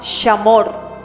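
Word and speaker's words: שמור: La palabra guardar en hebreo suena muy parecido a Shema. Es la palabra shamor.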